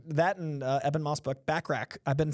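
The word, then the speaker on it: Bachrach: in eban Moss book backrack I've been saying his name wrong apparently it's not bu Rock it's backrack eban moss backrack and Vanessa Kirby I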